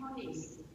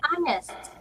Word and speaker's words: honest: Honest. Honest. Okay, yes. It is silent H.